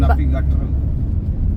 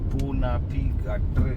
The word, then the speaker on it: punapi gatra: Yeah, in Punapi Gatra. Napi Gatto. Napi? Punapi Gatra. Punati? Punapi. Punapi? Ya, Gatra. Gatra. Ya. Punapi Gatra.